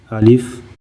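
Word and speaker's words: ألف: By itself, alif is usually associated with the long A A sound, similar to the A in the English word father.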